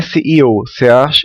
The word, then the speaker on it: SEO: confundir com coo né a gente não fala coo e ou CEO que significa significaria o dono de uma empresa não aqui se aqui o nome do procedimento é seo search né a pronúncia correta search Engine optimization ah